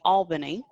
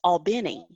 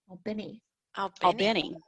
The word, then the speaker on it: Albany: Yeah, there's a town in Georgia that looks like it should be Albany. But if you're from there, it's Albany. Albany. Yeah, that's how you say it if you're from there. And sort of like even